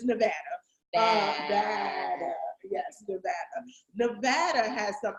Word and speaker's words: Nevada: I found out that we're saying it wrong because we're from the East Coast. So we've been saying Nevada. But it's Nevada.